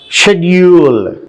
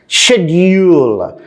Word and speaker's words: schedule: Schedule. According to the British pronunciation, schedule. But our American pronunciation, schedule. Schedule.